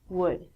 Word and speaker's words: would: pronunciation on ink vidcom all of these l's are silent so it sounds like should good and the thing that we get from trees would that's easier next one